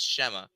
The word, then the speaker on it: Shema: And yes, it's pronounced Shema.